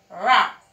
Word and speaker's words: wrap: And the R starts its sound and the W is silent. And this is wrap.